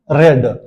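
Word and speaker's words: read: यानी रीड, रेड, रेड। Spelling तीनों का एक जैसे है। लेकिन इसको पढ़ते हैं। यानी फर्स्ट फॉर्म इसका रीड होता है। सेकंड रेड और थर्ड भी रेड। तो हैव के साथ हम क्या यूज़ करेंगे? रेड। स्पेलिंग वही है। लेकिन चकि थर्ड फॉर्म है। यहां पर हैव के साथ थर्ड यूज़ होता है। इसलिए हम इसको कहते हैं रेड।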